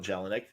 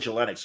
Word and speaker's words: Jelinek: like Thank You Michel jelinek I was I said Joe Lennox oh I'm glad to hear jelinek good I want to hear